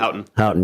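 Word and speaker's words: Houghton: are you it's detective H uh hton right ises that how you say it hton yeah I always get confused when it says h o u g h it always throws me off a little bit like hu sorts of stuff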